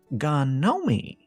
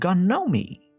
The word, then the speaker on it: Ganomee: Gnomie. he said proudly. G N O M E. She laughed. Doesn't that spell gnome? Not where I come from, he said. It's Gnomey.